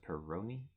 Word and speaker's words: Peroni: changed the coffee into the peroni is how you pronounce it peroni now i just think